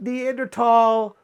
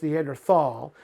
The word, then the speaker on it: Neanderthal: It was never pronounced Neanderthal. German orthography, the way they put their words together, actually changed at the beginning of the 20th century, and they got rid of those H's that are not pronounced.